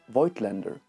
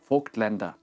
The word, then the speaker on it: Vogtländer: a German brand name, I have started to call it the English name Voigtländer, which is so fucking wrong, and I'm trying to retrain myself for the German for the proper pronunciation of Vogtländer.